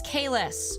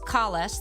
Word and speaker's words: Kahless: That is Kahless, whose name was originally pronounced Kales the first time he's mentioned in this show.